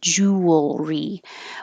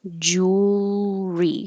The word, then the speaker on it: jewelry: lips it's not ooh jewelry you can make it three syllables if you want jewelry but the middle one gets dropped and we just make it simple two jewelry so you have to